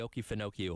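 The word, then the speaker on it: Okefenokee: the Oki Fino. Pronounce it. The Oki Finoi or so you have the Oki Finoi swamp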